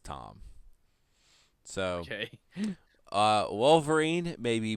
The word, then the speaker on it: Thom: So it's kind of like Thom Yorke. That's pronounced Tom.